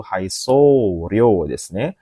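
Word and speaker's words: 配送料: Nah, ini bacanya adalah kanji yang nomor atau ee cara baca pilihan yang benar nomor dua Minasang yaitu Haisorio Haisorowa ikura deska.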